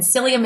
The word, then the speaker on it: psyllium: buy the product it's psyllium seed husk and psyllium is spelled with a p so I will uh